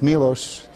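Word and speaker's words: Miloš: even he asked me how to pronounce my name nobody really can it's milosh and last name is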